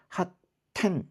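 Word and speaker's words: 発展: 그래서 핫텐 이렇게 되는 거죠. 핫텐. 음. 여기 이제 요거 읽을 때는 약간 끊어 있는 끊는듯한 그런 느낌이 있어야 돼요.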